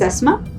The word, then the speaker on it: Asma: My name is Asma, and you spell it as A-S-M-A.